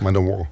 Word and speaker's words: Manowar: Man of war. We say man of war in uh in the United States.